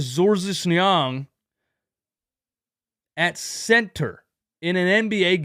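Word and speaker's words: Georges Niang: went with George nyang to pronun to pronounce it in in his father's native language Young Doc Rivers went with zorsnyang at Center in an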